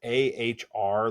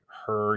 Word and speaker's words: Ahr: I will say this wrong, but it's AHR, like the Ahr Valley, or Her. You don't pronounce the A.